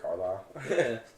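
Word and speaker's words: Carlisle: It's Rick Carlile.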